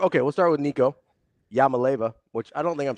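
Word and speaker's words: Iamaleava: I think you're missing a whole syllable. Is it Iamalaeva? Yeah, it starts with an I. I don't know how you just jump to L's. I'm not. Yama. Huh. Like Yamo be there.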